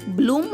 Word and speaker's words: bloom: మిత్రులారా, BL యొక్క శబ్దం బాలా కాకుండా బ్లా అవుతుంది. కాబట్టి BLOOM యొక్క ఉచ్చారణ అవుతుంది బ్లూమ్ అంటే వికసించడం.